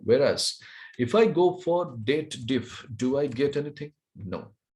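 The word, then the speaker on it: DATEDIF: of excel naming called date diff what is that date diff people does the wrong pronunciation over here they believe that it is the combination of date and if formula they read it as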